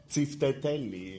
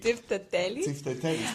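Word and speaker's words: τσιφτετέλι: how do you say do the belly dance Tsiftedeli? Yeah. How do you say it? Tsiftedeli Tsiftedeli.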